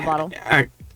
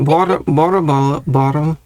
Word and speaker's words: bottle: Yeah, it's I think I read up that's at least some dialects pronounce it more like a tapped R. So not an R, but an R ed.